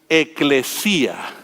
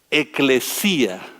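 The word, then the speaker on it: ekklesia: nosotros pensamos como iglesia la palabra en griego es eclesia eclesia con el acento en la y eclesia eclesia es una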